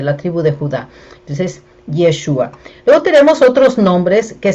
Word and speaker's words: Yeshua: El nombre original en hebreo es Yeshua. Ustedes me escuchan que yo digo bastante Yeshua. Eh, a mí me gusta pronunciarlo de esa manera, ¿verdad?